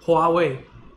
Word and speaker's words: Huawei: Literally, in Chinese, if you just go to Wikipedia, you look at it, it's literally pronounced Huawei, right?